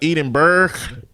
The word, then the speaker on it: Edinburgh: I hope you make it to the Edinburgh. Wait a minute. You said it was pronounced Edinburgh. Look like it's spelled Edinburgh, but he said it's Edinburgh Fringe Festival.